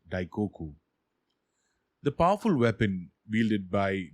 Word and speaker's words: Daikoku: a mythological hero kuninushi this name of the character which is written in chinese ideograms is pronounced daikoku the powerful weapon wielded